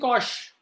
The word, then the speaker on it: cosh: Shine and cosh. It's not a mispronunciation. It's the pronunciation that we use for hyperbolic function.